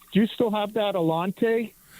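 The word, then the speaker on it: Allanté: Alante, right?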